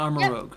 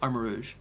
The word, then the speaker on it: Armarouge: the other one's name armor rouge armor Rouge no yeah it's armor Rouge not armor Rogue armor Rouge yes Rouge like the color yep oh people did